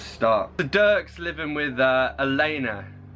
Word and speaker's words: Elena: the Dirk's living with Elena alena to rhyme with cleaner sorry he's been trying